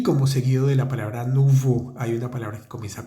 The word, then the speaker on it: nouveaux: plural vamos a decir nuvo el a u x se pronuncia como la o en español u nuvu nuvu y como seguido de la palabra nuvo hay una palabra que